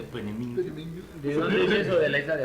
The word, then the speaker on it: Peenemünde: Así se pronuncia, Peenemünde.